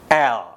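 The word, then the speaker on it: elle: Maka dia diucapkan L. Huruf terakhir E tidak diucapkan. L.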